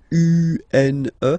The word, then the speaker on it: une: Then the feminine article is here, and it's easier because if you have this U, N, E, then you pronounce it une.